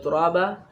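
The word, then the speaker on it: ترابا: ada sudah di lanjut sama turaban dibaca turabah mengganti tanwin fathah yang dibaca waqaf ini mungkin yang bisa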